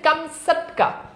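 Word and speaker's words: Kamchatka: এখানে কামসাটকা মানে কি প্রকৃত উচ্চারণ হচ্ছে কামসাটকা রাশিয়ার অন্তর্গত সাইবেরিয়ার উত্তর-পূর্ব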